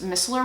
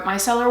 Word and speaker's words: micellar: to go back to that i loved those mistler waters or micellar waters i always forget how to it's actually pronounced miscellar micellar water so i picked up